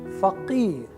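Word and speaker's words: فقير: So the word is starting with fa, with alphabet fa, and it has qaf. So you have to practice both fa and qaf, and then you will get the correct pronunciation of the word faqir.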